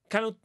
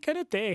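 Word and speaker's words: Kanouté: I mean, our mystery player was Canute. You have to pronounce Canute. In Spain, we say Canute. Canute. I think it probably is Canute because there's a little accent on the last E.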